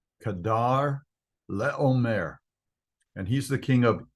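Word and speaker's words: Chedorlaomer: This guy has a name that's kind of hard to pronounce. It is Kedar Laomer. Kedar Laomer.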